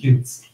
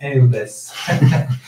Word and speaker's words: Eudes: The English prefers to say Eudes. Yeah. And the Italian, Eudes.